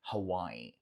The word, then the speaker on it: Hawaii: é o estado de Hawaii. Hawaii. E pode ser que você ouça também esse I prolongado no final, falando Hawaii, Hawaii, Hawaii. É uma outra possibilidade.